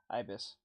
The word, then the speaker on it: Ibis Paint: do use Ibis paint is it Ibis or Iblis I keep saying Iblis I guess the I guess the computer said it right Ibis I IIs i' been saying it wrong this entire time I keep whenever I